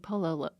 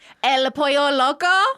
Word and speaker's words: El Pollo Loco: Are you saying Pollo Loco? pollo. Okay, it sounds like you keep saying Polo. Oh, I don't know what- Pollo Yeah. Loco. I think you're saying it right and my brain's registering it wrong. Okay, great. I'm not saying El Polo. It's a my issue, not a you issue. Okay, great. El Pollo Loco.